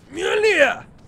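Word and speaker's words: Mjölnir: Mjolnir! That's how you pronounce it.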